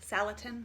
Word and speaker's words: Salatin: got a jolt of Latin on line it's pronounced Salatin cheolsu latin is how i pronounced it for 20 years before i heard him on youtube so I'll probably keep saying Joel Salatin in my mind it was I think it's